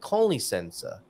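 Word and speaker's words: com licença: minute, they just said con licença, like con man rather than com as in comms.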